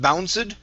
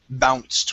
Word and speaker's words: bounced: uh first one here instead of bounced this is bounced with the t as it bounced was